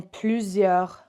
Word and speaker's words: plusieurs: We don't pronounce that S at the end. Plusieurs moyens. When we have an S at the end, if there's just one on its own, ignore it. Pretend it's not there.